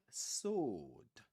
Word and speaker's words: sword: Here the the W is silent. We don't pronounce it. We say sword.